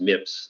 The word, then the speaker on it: MIPS: hennessey was doing at stanford the mips is pronounced mips for his mips project uh he was a